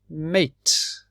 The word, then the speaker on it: mate: bath in your bathroom mate the e changes the a mate is a friend